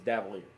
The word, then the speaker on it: Davalier: Nico Davalier, or Davier, or however you want to pronounce it. When he was at Maumelle High School, it was Davalier.